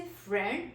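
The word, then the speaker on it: friend: Another example is फ्रेंड. वी से फ्रेंड, बट जो word है फ्रेंड उसमें डी को हमने साइलेंट करना है.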